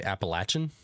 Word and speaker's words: Appalachian: Either way is right because traditionally like that word is pronounced Appalachian, but the people that live in that area call it Appalachia.